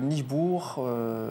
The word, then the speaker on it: Nijboer: Donc Nijbourg, ça s'écrit Nijboer. Donc il y en a beaucoup qui le prononcent mal.